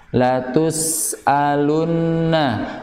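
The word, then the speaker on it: لتسألن: Dan diingat lagi, setiap nun yang bertahdid atau mim yang bertahdid ya, maka bacaan gunahnya harus lebih sempurna.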